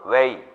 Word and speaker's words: weigh: 해서 동사 원형의 중에 답은 weigh. weigh라고 읽어요. GH는 발음이 안 되고.